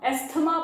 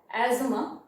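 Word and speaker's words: asthma: एस्थमा बोलते हैं अपन, लेकिन एक्चुअली प्रोनाउंसिएशन है एजमा.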